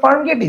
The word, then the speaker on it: Farmgate: So this is নট ফার্মগেটি, this is ফার্মগেট।